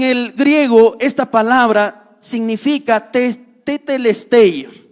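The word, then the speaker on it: τετέλεσται: Saben, en el griego esta palabra significa tetelestai o tetelestai. Ahí literalmente tetelestai. Pero en el griego también el diptongo se suprime y solo se pronuncia como hay como sería tetelestai. ¿Qué significa o qué implicancias tenía esta palabra?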